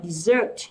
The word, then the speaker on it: dessert: Còn cái này sẽ là đọc là dessert, dessert nhá.